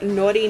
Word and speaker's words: Nauti: Now, this lipstick is in the shade Naughty Nude, and it's spelled N-A-U-T-I, nude. Almost like nautical nude, I guess, but it has pineapples on it.